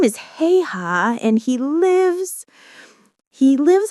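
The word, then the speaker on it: Haigha: His name is Heiha. He pronounced it so as to rhyme with the word mayor.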